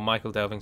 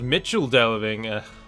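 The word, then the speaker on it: Michel Delving: really fight them or Michael delving sorry uh although it's supposed to be pronounced Mitchell delving you people just do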